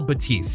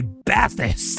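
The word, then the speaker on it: Bathys: I know how it's supposed to be pronounced. It's the Focal Batiste, but anytime I see its name written in text, I just want to say Bathis.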